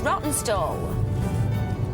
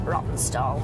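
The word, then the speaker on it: Rawtenstall: Here is Rotten Stall. It should be pronounced Rotten Stall. It's R A W T E N. Stall, but locals pronounce it Rotten Stall.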